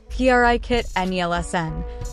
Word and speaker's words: Brigitte Nielsen: Bridget neelen whose name in Danish pronunciation sounds like a sneeze P kit nlsn was born get neelen